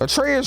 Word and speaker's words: Atreus: to go with treyas atreus rhymes with Petraeus cause his ass and